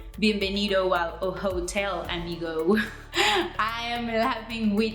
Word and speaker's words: hotel: And your H silent. So we say, bienvenido al hotel, amigo. Bienvenido al hotel, amigo. Not bienvenido al hotel, amigo.